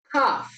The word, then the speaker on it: calf: Hanyuma tuje ku rudome L is not usually pronounced after A, O or U. Urudome L ntiturusoma igihe ruje inyuma ya a canke ya o canke ya u. Akarorero calf, calf, calf gisigura emvo